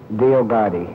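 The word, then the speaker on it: Dioguardi: thought I understood him to pronounce it Diagardi. Is that correct? Good night. You got to consult your attorney on that? I pronounce it Diagardi. Without the U being pronounced.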